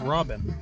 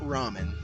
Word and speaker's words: Robin: Robin Rob Ramen no Robin yeah Robin not Ramen Ramen like no it's ramen